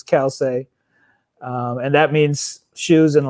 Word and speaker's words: Calcei: So people pronounce it all sorts of different ways, but it's Calcei, and that means shoes in Latin.